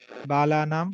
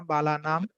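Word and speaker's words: বালানাম্: নিধায় হৃদি বলবে না, হৃদয় হৃদি বিশেষম বিধায় গুরু বন্দনম বালানাম, বালানাং বলে বাংলায়, তো বালানাং হবে না, বালানাম, বালা নাম।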